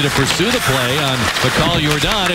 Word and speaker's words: Michal: That's something to say, but pronounced Mikhail Jordan.